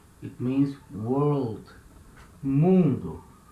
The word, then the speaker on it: mundo: beginning of a syllable mundu it means world mundo so letter m is at the beginning of a syllable and it has the same sound as letter m in my for example in english